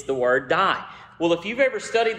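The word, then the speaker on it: δεῖ: word for must is the Greek word d it's spelled Dei but it's pronounced d I know that's backwards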